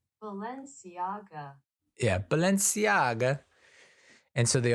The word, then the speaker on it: Balenciaga: Aga how do I pronounce Balenciaga how to pronounce Balenciaga Balenciaga Balenciaga yeah Balenciaga and so they all become very